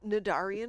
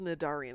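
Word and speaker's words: Cnidarian: The defender the Yeah, it's called Nadarian. It's just got a silent C at the beginning of it.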